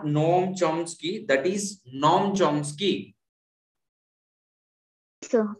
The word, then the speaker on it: Noam Chomsky: This is a view held by the Noam Chomsky, and this is the followers. Thank you, sir. Yes, Sri Lakshmi Kumari, that's great. Thank you. So this is not Noam Chomsky, that is Noam Chomsky.